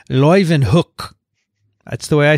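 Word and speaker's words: Leeuwenhoek: did a tweevo with she said yeah hookstra is the way you pronounce her name and leuven hook would be the way you say his name so that's what he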